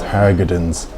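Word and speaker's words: Hargadons: It's actually H-A-R-G-O-D, so it's Harrigan's.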